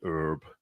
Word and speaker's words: herb: so weird to me the way Americans say herb because there's an H in it but then other words with h in we don't say that's the French that's why that's why